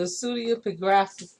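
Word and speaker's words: Pseudepigrapha: The Pseudeographa, I guess that's how you say it. It's spelled Pseudeupigrapha.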